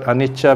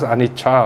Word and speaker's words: anicca: Now, we all know the word anicca means impermanence, right? Now, the problem in Sinhalese language, is they think that, okay, you pronounce anicca, so you must spell it with a CH, right?